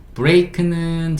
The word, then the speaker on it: break: K는 크, E는 묵음, break는 자동차 제동장치.